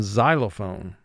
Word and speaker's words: xylophone: syllable rule number now if x were to begin the syllable it makes the sound z as in xylophone there are very few